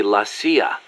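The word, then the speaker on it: la CIA: around here they say la sia instead of c.i.a huh um nothing strange about it that's how it's pronounced when you read it in spanish it has the feminine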